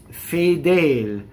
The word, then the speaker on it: fedel: Fedel. Okay, so two closed E's. Now, this does not rhyme with the word crudel, which has an open E at the end. So always remember that, right? Fedel, crudel.